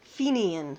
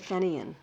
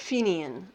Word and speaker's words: Fenian: an early collection of, now this is the correct pronunciation, this is an early collection of Fenian stories and poetry. I had said Fenian, of course I did, right? So, but Fenian, and Martine gave me the